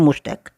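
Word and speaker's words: moustache: Spelling को ध्यान रखें, MUST मस्ट एक ACHE और इसका उच्चारण होता है मुस्टैक।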